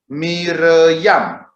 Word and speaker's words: Miriam: Kemudian diberi tanda bunyi, titik di bawah berbunyi I, kemudian titik dua yang bertingkat seperti itu berbunyi E atau E lemah atau menandakan huruf mati, lalu seperti huruf T itu menandakan huruf A, berarti ini Miriam, Miriam, itu dibacanya begitu.